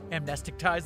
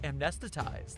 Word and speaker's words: amnesticize: "Can't you just, I don't know, amnesticize them?" "No," said the person on the other end of his Bluetooth, and it's pronounced amnestitize, they also said.